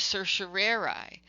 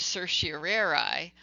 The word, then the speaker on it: certiorari: is a Latin phrase, and it is often pronounced as writ of certiorari, although there is some disagreement on whether or not the phrase instead should be writ of certiorari or writ of certiorari.